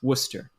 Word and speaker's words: Worcester: a bit of Worcestershire sauce Worcester sauce Worcester pronounced Worcester or maybe spilling a bit of Worcester sauce